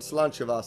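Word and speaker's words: Sláinte mhaith: There's a great phrase in the Celtic nation, Slainte Mhaith. Slainte Mhaith means, here's to your good health. Let's drink some water. Slainte is here's to your health, and Va is good. It's spelled really weird, but, it's Gaelic, so...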